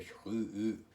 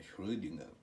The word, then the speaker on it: Schrödinger: O pessoal fala Schrödinger. Tem gente aqui que fala Schrödinger, mas é feio, viu gente? Porque alemão acentua a primeira sílaba. Esse O aqui é Schrödinger. É entre O e E, né? Schrödinger.